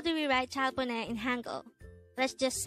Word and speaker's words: 잘 보내: This is pronounced as a three-syllable word. Actually, this is two words. The first word is 잘, and the second word is composed of two syllables, which is 보 and 내.